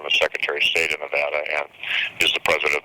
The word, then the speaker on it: Nevada: longest serving Governor Nevada history or as some pronounce it the longest serving Governor Nevada history I kind of prefer the former pronunciation